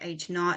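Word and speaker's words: H₀: the null hypothesis is H not and it's pronounced H not it's going to have that little zero there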